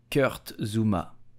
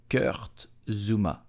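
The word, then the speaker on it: Kurt Zouma: United in Premier League so how do you pronounce his name correctly you will say Kurt Zuma Curt Zuma Zuma did you know that kurtzuma has been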